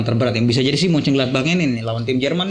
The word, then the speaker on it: Mönchengladbach: Ada Real Madrid, Shakhtar Donetsk, Inter, dan bacanya gimana? Baca gimana? Mas? Mönchengladbach. Mönchengladbach.